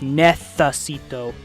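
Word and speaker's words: necesito: Like they pronounce nessito as nethacito. the th as in thirsty.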